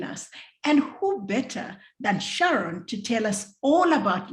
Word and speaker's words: Sharron: is i have to tell you i pronounce my name sharon you would never know many people i just